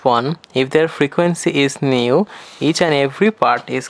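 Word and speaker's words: ν: The pronunciation of this one is nu.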